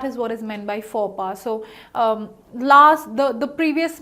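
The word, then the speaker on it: faux pas: and what do you think is the correct pronunciation it is for BA the the correct pronunciation of this word is for bar so for bar is a word of French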